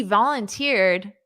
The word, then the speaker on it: volunteer: And notice that syllable stress is on the last syllable, which isn't very common in English. Volunteer, ear. You hear that ear. It's just like ear.